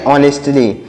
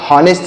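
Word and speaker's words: honestly: यहाँ पर यच साइलेंट है, जैसे हमने ऊपर अभी बताया आपको कि यहाँ पर देखिए आवर में यच साइलेंट है, तो उसी तरीके से इसमें यच साइलेंट है। हम इसको हावर नहीं पढ़े, आवर पढ़े, तो उसी तरीके से इसको हम हॉनेस्ट नहीं ऑनेस्ट पढ़ेंगे।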